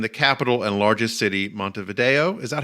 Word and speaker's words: Montevideo: them live in the capital and largest city, Montevideo. Is that how you pronounce it, David?